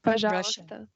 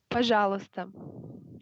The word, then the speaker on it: Пожалуйста: Пожалуйста. Huh? Пожалуйста.